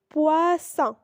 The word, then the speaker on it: poisson: Quand il y a double S, il se prononce comme un S. Exemple, poisson, possible, tasse. Dans ces trois mots, on a double S est équivalent à un seul S.